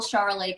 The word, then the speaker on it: charolais: of mixed or it kind of rhymes with the with the the grape chardonnay um we grow chardonnay